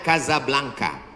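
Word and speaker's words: Casablanca: kuliah nama negaranya Maroko ibukotanya tulisannya casablangca cara bacanya Kadzab langka Kaza artinya rumah Blanca artinya putih Kasablanka rumah warna putih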